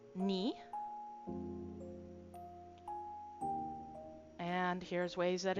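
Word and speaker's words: 二: Uh to is pronounced ni.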